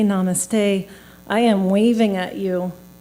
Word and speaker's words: namaste: guesses Katherine knows it Namaste one word three syllables to hold a world